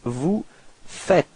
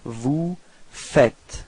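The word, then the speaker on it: vous faites: but then no it's Vu fet okay keep in mind that final s is not pronounced Vu fet okay repeat vu fet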